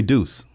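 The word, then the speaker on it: Duce: They call me Deuce.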